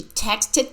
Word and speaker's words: texted: text a chick she texted me last night text what is the past of text texted texted with Ed and this e d sounds like e d she texted me last